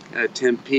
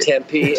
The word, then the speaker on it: Tempe: Tempe, you got to say it right. Tempe, Arizona.